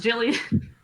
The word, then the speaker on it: Gillian: scarlet scent that woman gillian she's glowing it's pronounced jillian jillian gillian i mean look it